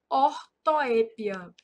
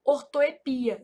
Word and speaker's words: ortoepia: Então aqui, ó, são erros de ortoépia. Essa palavra ortoepia, ela é um caso de variante, então ela também pode ser pronunciada assim, ó, ortoepia, sem acento.